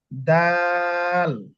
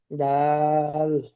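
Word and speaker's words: دال: অক্ষরটা এখন আমরা দেখব দাল তাহলে কি বলছিলাম যে জিম যতটুকু লম্বা করেছি দাল সেম একই একই রকম আপনার লম্বা করে পড়তে যদি আপনি দাল দাল দাল এভাবে বলেন তাহলে ভুল হবে তাহলে কি হবে এই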